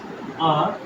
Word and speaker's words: are: The Olympics R held every 4 years।